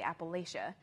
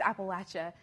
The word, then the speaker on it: Appalachia: know mountain range but most people here say Appalachia and I yeah yeah it's Appalachia so and it's weird